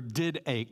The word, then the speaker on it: didache: The word in the original Greek for the word teaching is pronounced didache. It looks like didache or did ache, D-I-D-A-C-H-E, but it's pronounced didache.